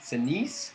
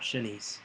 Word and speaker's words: Sinise: Gary Sinise. Sinise? Not Shanice. Is that what it says? No, it says Sinise.